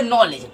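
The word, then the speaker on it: knowledge: जैसे मान लीजिए आप उसमें लिखेंगे नॉलेज, ठीक है, नॉलेज, तो नॉलेज में के का उच्चारण छुप जाएगा।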